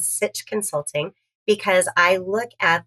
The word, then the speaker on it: sitch: So, my hip nieces and nephews have told me this phrase, the sitch, not stitch.